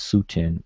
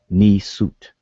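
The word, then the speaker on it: nswt: All right, so they were pronouncing it as Sutin as opposed to um, Ni Sut.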